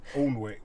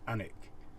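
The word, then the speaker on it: Alnwick: we're going it's spelt ornwick so i think that's what we've been calling it but we found out this actually pronounced anik so there why so you don't pronounce the w or the l right okay let's go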